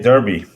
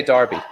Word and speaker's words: derby: it did we say no the americans say they derby we say darby it's like davenport and